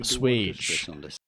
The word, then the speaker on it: assuage: But how do you go about pronouncing it? A suage. You assuage.